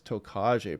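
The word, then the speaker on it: Tokage: this is typhoon tokaje i called it tokid yesterday but it's tokaje pronounced so this is going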